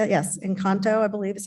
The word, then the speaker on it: Encanto: Movie in the park, we showed Encanto, right? Is that how you say it? Yes, Encanto, I believe is how it's pronounced.